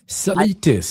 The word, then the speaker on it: Zalitis: Introducing our guest tonight Salatis. Sales is my name.